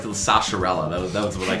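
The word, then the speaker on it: Sahasrahla: When I was a kid, I was like Zahashrala, I think is how you pronounce it.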